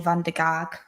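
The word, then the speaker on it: van der Gaag: my house he wants to bring in mitchell van der gark that's how you say it and also there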